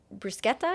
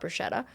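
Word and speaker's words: bruschetta: want to have BR brusketta because that's how you really say it I learned in Italy not Bretta and side note with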